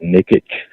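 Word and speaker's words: Nikic: on last week uh chris nicki i think it's i see but they pronounce it nikki he was the first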